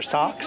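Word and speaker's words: Sachs: Pronounced sacks or socks, depending on probably where you live.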